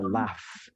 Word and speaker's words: laugh: Nah, tapi bacanya bukan love, bacanya bukan laug loh ya, bacanya adalah laugh.